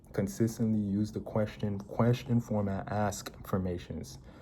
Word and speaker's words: Askfirmations: So consistently use the question format, Askfirmations. Before, like I said affirmations. That was completely wrong. I mispronounced all of it, because we have affirmations, the statement form, and then the question form is Askfirmations.